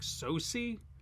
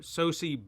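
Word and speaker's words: Sosie: pronounce her first name I think it's like soci s-o-s-i-e uh soci bacon but she's actually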